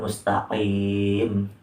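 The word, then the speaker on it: مستقيم: Jadi cara membacanya itu ihdinas siratal mustaqim. Nah, jadi bagian lidah paling dalam nih dan langit-langit mulut yang berdaging.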